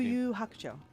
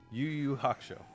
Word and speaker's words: Yu Yu Hakusho: You can pronounce the title better than I can. What is the game? Yu Yu Hakusho. Yu Yu Hakusho.